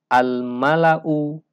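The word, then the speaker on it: الملأ: Al Malau ayyukum Nah di sini ada satu Alif yang di atasnya ada silver mustadir sehingga Alif yang ada di sini dianggap tidak ada sehingga membacanya menjadi almala'ukum Hamzah dhomah di sini tidak dibaca dengan panjang tetapi dibaca dengan pendek Karena memang alisnya nggak ada almala u ayyukum tidak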